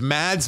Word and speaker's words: Mads: teacher with Mads Mikkelsen, who I've been told the S is silent, so it's just Mad Mikkelsen. You know what? I will never pronounce it Mad. I'm with you. He will always be Mads.